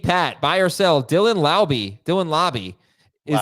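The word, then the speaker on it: Laube: buy or sell Dylan Lobby Dylan Lobby best I think it's Lobby yeah it's lobby as the best week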